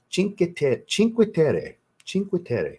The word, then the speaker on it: Cinque Terre: Like I said, Cinque Terre is Cinque Terre. That's how you're supposed to say it. I watched a YouTube video that talks about Cinque Terre, Italy several times to make sure I could get the pronunciation right.